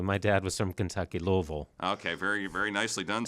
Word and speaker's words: Louisville: dad was from Kentucky Louisville okay very very nicely done and I didn't even have to practice I grew up saying it that way well let's talk a